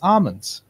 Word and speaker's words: almonds: it's a way it's plain almond almonds al all ah ah nice L is silent its almonds where do we find